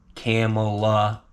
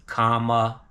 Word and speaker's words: Kamala: It's not Kamala, it's Kamala. Pretty simple, guys. Get it right. A lot of guys on the channel, they know what's up. Kamala, Michael Martin, good morning, Johnny Sunshine. Kamala's speech last night was amazing.